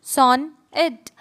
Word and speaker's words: sonnet: A sonnet, pronounced son it, so is a 14-line poem with a fixed rhyme scheme.